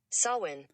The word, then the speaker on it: Samhain: that you know exactly how to say it sawin sawin all right sawin now again it's spelled s-a-m-h-a-i-n sawin now why am